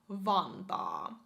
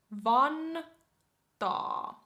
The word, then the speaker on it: Vantaa: Not that I'm biased at all, but yeah, next on the list we have Vantaa. Vantaa. Vantaa.